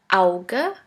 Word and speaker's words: Auge: The second letter combination is A-U, which is pronounced like ow, ow. Here we have the example of the word Auge, which means eye.